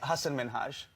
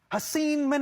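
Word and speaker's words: Hasan Minhaj: clap back from Hassan people always mispronounce it they're always like Hussein I'm so sorry I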